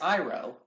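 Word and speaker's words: Iroh: what first and foremost you can't even pronounce his name right it's iro there's no why at the end of it can't you on summer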